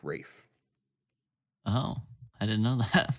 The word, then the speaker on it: Ralph: Isn't his name Ralph? It's spelt like Ralph, but it's said like Rafe.